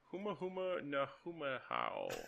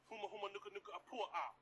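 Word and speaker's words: humuhumunukunukuāpuaʻa: Huma huma na huma how. Yeah, bitch. Close. Greenback. What's the state fish of Hawaii? Huma huma nuka nuka apua ah.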